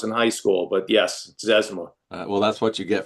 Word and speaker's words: Zezima: Zezima. I couldn't pronounce it till I was in high school, but yes, Zezima.